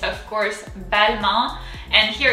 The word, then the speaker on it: Balmain: english you pronounce it balmain if i'm correct um but in french that's a little off so the first syllable is very similar to english bad so that's going to